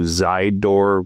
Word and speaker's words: Zidor: Um, that will also lead you to Zidor, which is like side but spelled with a Z.